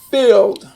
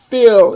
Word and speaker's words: filled: the phonovisual chart, then the ED here is just going to make the D sound. Now watch, that's one syllable. Filled. Filled, it's one syllable.